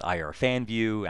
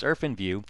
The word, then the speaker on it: IrfanView: Some people call it Irfanview. Actually, the proper pronunciation is Irfanview.